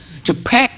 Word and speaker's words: JPEG: JPEG. JPG. I'm suck with pronouncing.